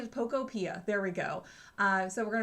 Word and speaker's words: Pokopia: I'm also going to look into the Pokopedia, that new game. I'm probably saying it wrong. It's probably Pokopia.